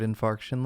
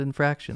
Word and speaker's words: infarction: Instead of just like, let's make up the pronunciation of the word infarction. Let's call it infraction.